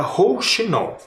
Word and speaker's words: rouxinol: olha lá ó rinol perceberam a sílaba tônica rinol é a última sílaba que é a mais forte então é uma palavrinha oxítona tá E ela não